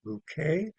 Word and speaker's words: Bucket: her name is Bouet she pronounces her name bouquet but it is spelled bucket b u c ke That is the running joke on this show.